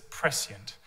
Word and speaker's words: prescient: the most important word as prescient at least that's how we pronounce it over this side of the pond now the other reason